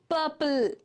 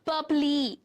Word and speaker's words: purple: Maple, turtle, and purple. L is getting stressed, not E. Purpley, turtley.